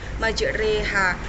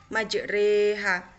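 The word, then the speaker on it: مجريها: surat hud ayat 41 yang berbunyi majreha itu cara membacanya itu yang awalnya ro itu tanda baca fathah menjadi Rock di tanda baca miring atau dibaca menjadi Rich majreha Mungkin cukup itu yang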